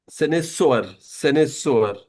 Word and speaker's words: Cynosure: What I have learned from the Google and from the translator is it's pronounced like senator. Senator. Yes. So Cynosure, senator.